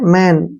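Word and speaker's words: money: का उच्चारण न करेंगे ई वाई का उच्चारण ई पढ़ेंगे मनी मनी मींस क्या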